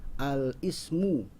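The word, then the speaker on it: الاسم: Kita tidak dibacanya al-ismu ya, kurang tepat kalau dibacanya itu adalah al-ismu, karena i dari ismu itu hamzah wasol.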